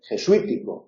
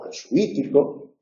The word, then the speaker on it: jesuítico: es llana sin embargo jesuítico que también puede pronunciarse jesuítico o jesuítico sí que lleva acentro